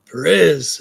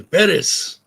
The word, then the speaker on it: Perez: Shannon says, Perez, accent on the E. Perez. Perez, yes.